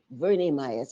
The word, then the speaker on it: Verna Myers: Verne Myers, as her name is pronounced.